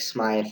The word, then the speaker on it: Smythe: One of the guys that I work with, his name is Blake Smythe, and if you're asking, what does that mean? It's actually the old way that they used to pronounce blacksmith.